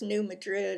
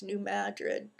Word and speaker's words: New Madrid: people know about and the US is the New Madrid Vault um and it's not pronounced New Madrid it's New Madrid for some reason but um it's been due